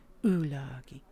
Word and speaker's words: Ulagi: I have to say it like that because the Elvish accent is to pull the U into the throat. Ulagi.